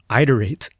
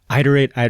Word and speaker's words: iterate: And I pronounced iterate with a long i in the beginning, not a short i.e., iterate, iterate.